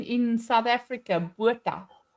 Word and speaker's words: Botha: Botha. It's Botha.